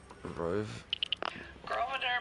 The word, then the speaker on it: Grosvenor: Grosvenor McCaffrey. So the S is silent?